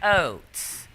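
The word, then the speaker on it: Ochs: pronounce this last name it's o-c-h-s but it sounded like oats but come and watch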